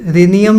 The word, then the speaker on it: रेनियम: रिनी नियम है ना मैं थोड़ा प्रोनाउंस में भी गलत कर रहा हूं वैसे तो रेनियम ही बोलते हैं है ना तो